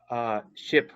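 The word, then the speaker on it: SHPE: So how much of an impact do you think SHIP, because that's how you say it, right?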